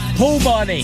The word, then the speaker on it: Peabody: You say Peabody with a silent Nothing silent. Peabody.